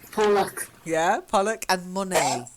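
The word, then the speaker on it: Monet: luck yeah Pollock and money money money money silent e french painter might one of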